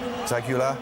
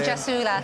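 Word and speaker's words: Gjasula: Either team could have won it in the last couple of minutes, but delighted for Zagula. Is that how you pronounce his name? We're going Jasula.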